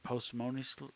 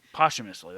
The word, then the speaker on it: posthumously: company again even um how do you say the word postimonious uh postmortem postmortem yeah um that's well posthumously posthumously that's a much better way to say it yeah posthumously uh a